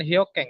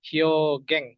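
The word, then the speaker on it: 表現: Tapi ini bacanya bukan hyokeng ya, tapi hyogeng.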